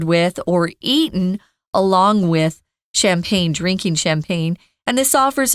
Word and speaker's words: champagne: French apple wine or champagne or as they say champag but we are doing the English pronunciation in that champagne champagne is only grown